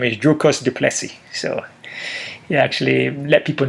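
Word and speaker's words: Dricus du Plessis: um joe rogan that hey my name is drucus du plessy so he actually let people know how to pronounce his name um yeah trevor guys was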